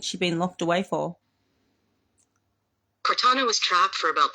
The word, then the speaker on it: Cortana: Queen Meta, let's go back to Quintana, sorry. How do I say her name? Cortana. You can say it like Cortana.